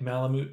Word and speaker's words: Malamute: Like you'd mute the sound.